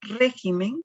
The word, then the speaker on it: régimen: Veamos la palabra régimen, como podemos observar, en la palabra régimen lleva la mayor fuerza de voz en la última, penúltima, en la antepenúltima sílaba. Y la debemos de tildar porque justamente es una palabra sobre esdrújula.